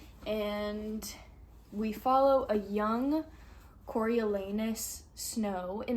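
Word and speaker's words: Coriolanus: young corilanus snow and if I see one more person pronounce his name Cornelius I'm literally going to throw something at them because that's not that's not how it's spelled and it's not how how it's pronounced so literally stop that's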